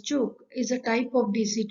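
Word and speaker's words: Ćuk: at the tube converter the two converter which is pronounced as choke is a type of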